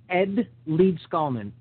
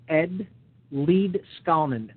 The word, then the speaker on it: Leedskalnin: fields okay lead SC now his name is Ed lead skullman Ed lead scalan I'll spell it it's spelled l e e d s